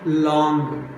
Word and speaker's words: long: So here we call long. So we should not pronounce ga sound. Simply we should call long. Long. No ga sound. Only long.